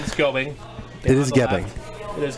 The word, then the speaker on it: Gebing: We spelled his name wrong. His last name is Gebing.